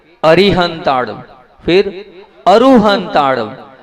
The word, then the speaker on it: अरिहंता: वो कहला रहे हैं अरु तो अर अरी और अरु ऐसे उच्चारण करना है आप लोग वैसी के वैसे उच्चारण करते हो तो मैं आप लोगों से ये कह रहा हूं अरहंत अरिहंता और अरु हंता